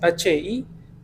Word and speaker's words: Hipatl: Es Hipatl. H muda. Ajá, Hipatl. H-I. Suena como Icpatl.